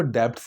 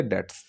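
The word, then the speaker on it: debts: अब इसकी जो प्रोनाउंसिएशन होगी वो डेप्ट्स नहीं होगी, बो की आवाज़ नहीं है कि डेट्स, ठीक है, डेट्स।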